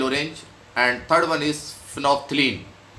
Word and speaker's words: phenolphthalein: One is the litmus, second is methyl orange, and third one is phenolphthalein. Its spelling is something else, but we pronounce it phenolphthalein.